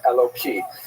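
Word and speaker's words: Elokim: And so when you're not pronouncing it in the context of prayer, you would say it with a hey instead of a kuf and Eloki.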